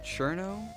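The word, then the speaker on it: Cirno: This is the main character, Kurno, of course. Apparently pronounced Cherno. I'm gonna keep saying Kurno, because, you know, it makes sense to me.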